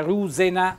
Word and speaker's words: rusina: intanto mi premeva questo termine rusina arrugginita vedete con l'accento tonico sulla u ma ben perfetto qualche